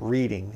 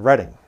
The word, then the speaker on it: Reading: It's not Reading. It's spelled like Reading, but it's pronounced Reading if you're from the area.